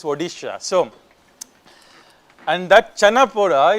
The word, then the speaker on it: Odisha: Odisha we call it as Orisa in Karnataka because we don't pronounce D. I mean we are taught Odish Oisha. I don't know why I know it's Odisha.